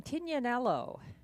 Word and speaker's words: Tignanello: And the 1, Tignanello. I guess that's the correct pronunciation, I've been told, by wine connoisseurs. So he is back from Mohawk, Tignanello.